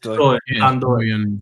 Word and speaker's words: Ndoye: You don't pronounce the N. It's just Doy.